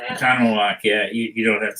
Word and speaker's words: Oconomowoc: Oconomowoc, yeah. You don't have to say it that slowly. Oh, well, I can't say it. Oconomowoc, Wisconsin.